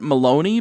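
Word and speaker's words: Melony: ice princess herself melanie you could probably pronounce that maloney based on the way it's spelled but that sounds too much like baloney so i'm gonna stick with melanie one nice ridden ankle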